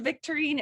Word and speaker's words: Victorine: But if you think of Victorine, it rhymes with Listerine.